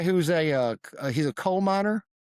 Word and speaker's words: Koopmeiners: This guy who's a uh he's a Koopmeiners, that his name like coal miner. Koopmeiners. It sound like coal miner in English.